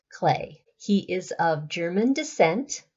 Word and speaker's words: Klee: whose name is Paul clay it's actually spelled KL EE but pronounced clay he is of German